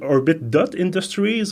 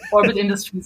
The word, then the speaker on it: Orbit Industries: want to be sure do we pronounce it orbit dot Industries or is it just for visual effect more it is for visual effect so orbit Industries is correct that's perfect so orbit